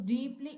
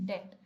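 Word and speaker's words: debt: dash her शी वास डीप evolved इन डेट य डेप नहीं है इसको हम कैसे प्रोनाउंस करेंगे डेट ओके डेट तो जब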